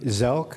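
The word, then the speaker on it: Szelc: Please state your name and spell it for the record. My name is Gary Zelk, and that's S-Z-E-L-C.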